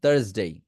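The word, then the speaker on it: Thursday: হচ্ছে থার্সডে থার্সডে থার্সডে লাস্টের এস টাকে জ এর মত সাউন্ড করবেন থার্সডে থার্সডে কি উচ্চারণ করবেন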